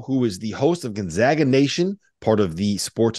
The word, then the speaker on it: Gonzaga: pronounce Gonzaga it's not Gonzaga right it's Gonzaga right they're they're you know that one of the interesting kind of ways to describe it was you don't Zog you zag so zigzag Gonzaga um so that's that's